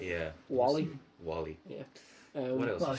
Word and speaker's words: Whaley: So her name's Joanne Whaley, if I'm pronouncing that right. yeah, that looks right. Yeah. Wally.